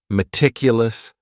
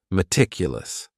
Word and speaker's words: meticulous: word is meticulous and this word has four syllables and the stress is on that second syllable meticulous meticulous that first syllable also has that schah that a sound that reduced vowel sound meticulous this is another